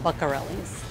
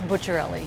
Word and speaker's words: Bucciarelli: only one name you need to know but pronouncing it properly ain't always easy people mostly call it but Corelli's I think they say Lucarelli more than I do put your own Lucarelli bucka rally at first I corrected people its butcher le